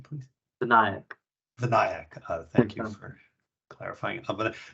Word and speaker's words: Vinayak: Yeah, and Vinayak, what's the correct pronunciation of your name, please? Vinayak.